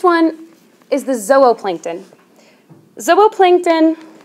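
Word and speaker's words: zooplankton: is the Zillo plankton zobo plankton by the way it's pronounced as Oh Oh plankton but it looks like zoo well this can help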